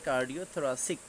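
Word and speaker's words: cardiothoracic: এই William castle ডেভরিসের জায়গাতে American কার্ডিওথোরাসিক, উচ্চারণটা সিস হবে না, সিক হবে।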